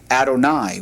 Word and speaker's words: Adonai: pronounced Yahweh or Yahweh, that is going to be pronounced Adonai when we get to that in the text.